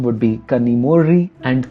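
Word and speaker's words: Kanimozhi: The technical term for this sound is retroflex approximant, and when transliterating in English, it is represented as ZH. So you must have come across these words like kanimozi or kozhikode, which are of course the wrong pronunciations of these words.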